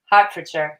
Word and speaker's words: Hertfordshire: Hertfordshire, even though it's an ER, not an AR.